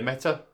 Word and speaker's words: Meta: doesn't do it hey meta it does do it uh what time is it it's 7:39 p.m. so you really got to pronounce a t in meta so hey meta hello